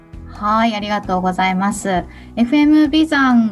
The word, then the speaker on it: 眉山: んですけども眉山っていうのが眉眉ですね眉毛のいうまゆ新山とか言って眉山と読むんですけども